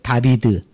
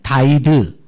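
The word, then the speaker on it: דָּוִד: 계속 14를 강조하는가 여러분 다윗이 어 히브리식 발음이 어떻게 되느냐면 한번 따라해 보실래요 다비드 또는 다이드 이렇게 읽습니다 다비드 다이드 이렇게 읽어요 여러분 어 다비드 다이의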